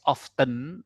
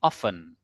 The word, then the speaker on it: often: Nah, Teman-teman, my lecturer yang FT ini kalau dalam pengucapan ee t-nya luluh ya. Luluh atau lurus sian? Luluh ya. Oke, dirop gitu. Jadi jangan bacanya he has often tapi often.